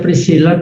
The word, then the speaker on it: Priscilla: Y se pronuncia Priscilla, pero en Italia se escribe como está su apellido, nombre, Priscilla, solo que con doble L. Y se lee como si fuera una L, no I.